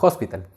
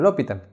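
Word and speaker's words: L'Hôpital: regla a la universidad el profe me decía que se llama hospital por eso que yo ya me acostumbré a pronunciarlo así pero por muchos comentarios de ustedes me dicen que tengo que pronunciaron lo pitan entonces voy a intentar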